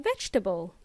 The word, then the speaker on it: vegetables: It's a vegetable or vegetables. In Spanish, this is vegetales o verduras. It is pronounced vegetable, not vegetable. It's not vegetables. It's vegetables.